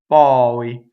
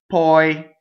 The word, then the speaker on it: poi: Ppɔi. Not poi. Doesn't rhyme with boy. Ppɔi. A-E. A-E. That's how you get your vowel right.